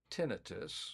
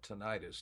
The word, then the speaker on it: tinnitus: And again those those three statements, excuse me, those three symptoms are tinitus which is the proper pronunciation of the word. A lot of people call it tonitis.